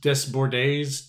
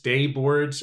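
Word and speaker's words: Desbordes: So, Druski is Drew Des Boards Des Bordes Day Boards. I don't know how to pronounce it. The silent S's.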